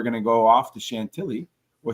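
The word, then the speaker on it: Chantilly: Huck and York on Saturday and then we're going to go off to Chantelli or Shantigi or however Tom pronouncs it in the French way for Sunday h in France.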